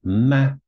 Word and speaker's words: 吗: This one here is the equivalent of a question mark. You can see it right here. And it's pronounced ma, ma.